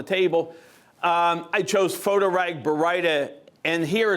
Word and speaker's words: Baryta: And by the way, that word Baryta, B-A-R-Y-T-A, is pronounced Baryta. It's not Baryta, it's not Baryta, just because there's always confusion over it, and so it's just so you know, it's Baryta.